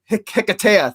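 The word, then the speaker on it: Hiketeia: and Wonder Woman in Hikeisha, or Hikeithia, I always maybe mispronounce it. Hikatea? Hikatea, thank you.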